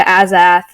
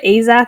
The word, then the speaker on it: Azath: Like the Azath, which, by the way, absolutely shook by your pronunciation. I've heard Azath and Azath, but not Azath. Whatever the fuck you said. Azath.